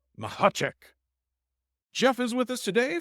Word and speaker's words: Mahacek: And today, we are joined by Jeff, you pronounce his last name like a sneeze, Mahacek.